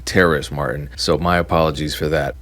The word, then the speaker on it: Terrace Martin: It is not Terrence Martin, it's Terrace Martin.